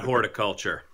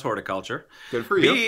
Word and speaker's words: horticulture: thing or two about horticulture hey I know how to pronounce horticulture I know not to emphasize the first syllable too hard when you're saying the